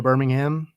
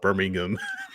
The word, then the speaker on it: Birmingham: then you have Chattanooga Birmingham and birming down to Florida it's always funny to hear Brad guzan having played so long in England call it Birmingham yeah Birmingham Alabama there's another syllable in there sir yeah if you